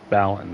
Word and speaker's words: Balin: Balin, that's how you pronounce it.